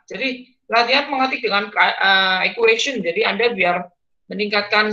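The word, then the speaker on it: chi: dari tadi bilangnya explorer explorer itu kain Square ya bacanya Kai jadi anda itu Sini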